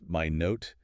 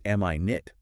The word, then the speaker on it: minute: Two pronunciations, totally different meanings. Absolutely crucial distinction at this level. Pronounced minute.